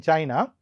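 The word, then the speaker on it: Qin: lot of rebellions against him and therefore the Ching Dynasty Chin Dynasty does not last for a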